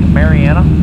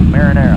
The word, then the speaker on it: Mariana: This is Lake Mariana. Often mispronounced by our foreign students. They're called Lake Marinara.